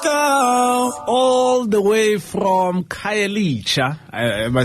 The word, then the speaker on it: Khayelitsha: All the way from Khayelitsha. Am I saying it right, Dad? Yeah. All the way from Khayelitsha in Makaza.